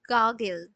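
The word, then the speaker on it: gurgle: হয় সেটাই হয়ে যায় গাগেল গাগল এটা নট গাগেল এখানে আরটা উচ থাকে এর উচ্চারণটা হয় গাগল মানে ছোট বাচ্চাদের যেটা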